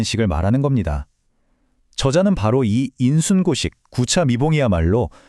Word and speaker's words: 인순고식: 이걸 어떻게 읽냐면 인순고식 구참이봉이라고 읽어요. 조선 시대의 위대한 학자 박지원의 말에서 따온 건데요.